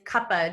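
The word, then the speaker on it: Kapha: our final Dosha is Kapa DOA or kafa DOA um you can say it either way there's two different pronunciations I really like saying Kaa without the the pH it's just more fun for me um but you can say Kaa too um so Capa DOA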